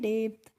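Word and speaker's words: depth: हमने पढ़ा है डे और जो पी होता है यहां पर इसका हम प्रोनाउंस एशन नहीं करते हैं फिर करते हैं टी एच का तो इसको पढ़ते हैं डेप्थ और डेप्थ की हिंदी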